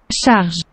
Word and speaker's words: charge: french word that means load and it is pronounced sas so there you go that's why our gfci